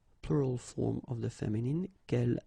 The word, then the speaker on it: quel: good news is that if you listen carefully, quel, quel, quel, quel, okay, so phonetically you get only one form. Of course, when you get this S, well, if you've got a vowel after, then you will have to make this liaison. But then clearly the basic form like that, phonetically it's the same.